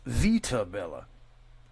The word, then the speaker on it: Vitabella: Vita Bella, excuse me, is pronounced Vita Bella.